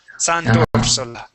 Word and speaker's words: Sant'Orsola: So that R sound, tor, Sant'Orsola.